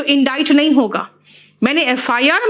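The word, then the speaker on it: indict: मुझे इस केस में इंडाइट क्यों किया। बेटा ये इंडिक्ट नहीं है प्रोनाउंसिएशन, इसका प्रोनाउंसिएशन है इंडाइट।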